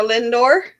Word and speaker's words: Lindor: Lindstrom how you say it lint ly or Lindor Lindor yeah yep L I kept buying these